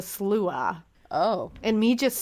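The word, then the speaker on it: Sluagh: Now, it looks like it's pronounced the slog, but it's actually pronounced the slua.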